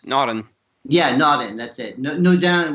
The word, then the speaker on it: Naudin: Naudin would be how you say it in French.